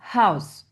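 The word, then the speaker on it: Haus: Attention H expiré house he das vasa l'eau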